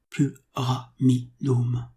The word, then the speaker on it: pyramidum: N'oubliez pas que le Y se prononce U, tant en grec qu'en latin. Le Y porte donc très mal son nom. Pyramidum.